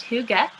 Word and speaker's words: hygge: I've heard probably every possible option you could think of, but it is pronounced hygge.